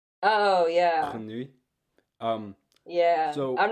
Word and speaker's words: grenouille: So, it's grenouille, Oh yeah. grenouille.